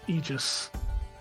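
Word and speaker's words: Aigis: The Aegis that means shield is spelled A-I-G-I-S. Aegis, and it's Aegis, apparently.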